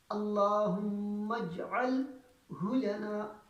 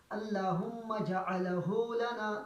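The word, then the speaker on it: اللهم اجعله لنا: پر بھی سکون ہے۔ اللہم اجعلہ لنا، ہمارے حضرات اس طرح پڑھتے ہیں اللہم جعلہ لنا، تو یہ بالکل غلط ہوا۔ صحیح تلفظ کے اللہم اجعلہ لنا۔ اس کے بعد فرقاً لفظ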